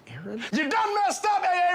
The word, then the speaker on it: Aaron: first time I said a Aon because it's pronounced Aaron you done messed up a Aon oh a